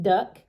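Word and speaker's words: Duk: a chinese fella uh named duck d uk and he pronounced it duck and he's done ginseng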